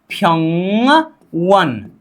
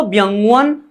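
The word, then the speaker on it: 병원: क्योंकि ये जब ब आगे आ जाता है तो ब का उच्चारण क्या किया जाता है? फ किया जाता है। तो व्यंगवन नहीं होता, फ्यंगवन होता है, ठीक है।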